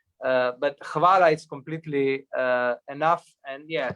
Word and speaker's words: hvala: Because it doesn't make any sense, especially because you would expect H to be silent, but it's not.